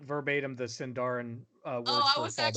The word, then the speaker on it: Sindarin: It's also it's not pronounced Sindarin. It's Sindarin.